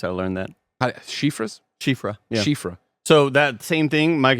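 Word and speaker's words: Siofra: at least 12 yeah Cher that's how you pronounce it I learned that shifas shif shifra so that same thing Mike remember that that name it's an Elden ring and it's like the sofra river that's what we always called it but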